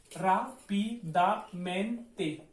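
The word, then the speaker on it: rápidamente: हिम इसमें हम जैसे कि ए पे आए तो ए पे लगा सकते थे, लेकिन रापिदा रा ज्यादा निकल रहा है, रापिदामेंते, ठीक है, रापिदामेंते, रापिदामेंते।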